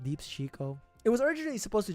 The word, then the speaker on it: DeepsChico: You know, people have a hard time pronouncing my name. Deeps Chico.